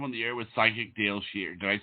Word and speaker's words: Dayle Schear: you are live on the air with psychic Dale sheare did I say it right yes yes yes